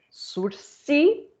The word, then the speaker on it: sursis: pelo nome zinho de sursi vejam é uma palavra é uma palavra francesa surce então a gente não fala não se pronuncia ss né não tem coisa mais feia do que você chegar lá no fórum e aí